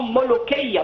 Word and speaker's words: molokhia: Même les Fatimides connaissaient par le nom molokhia, parce que c'est plutôt le K, pas le Kra. Les Européens ne le prononcent pas comme nous avec le Kra.